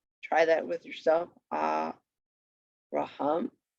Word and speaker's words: Avraham: other than last syllable, and accent on last syllable. So we have Avraham. Avraham. You could hear it naturally there, right? Try that with yourself. Avraham.